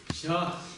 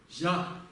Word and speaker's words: ཞ: Это записывается как ZHA, то есть ZHA скорее, если уж на то пошло. И он в низком тоне, и он произносится как ща.